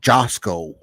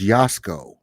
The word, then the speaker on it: Yasko: I know when people watch Yasko, they think his name is Josco, but it's Yasko.